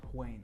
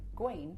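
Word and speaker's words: Haüyne: Huain. Guain.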